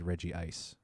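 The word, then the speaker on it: Regice: want to find uh the anime pronounces it as reggie ice that's good to know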